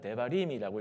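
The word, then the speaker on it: דברים: 앞에 보이는 어려운 단어인데 그냥 읽으면 데바림이라고 읽습니다 그래서 원래는 신명기고 읽지만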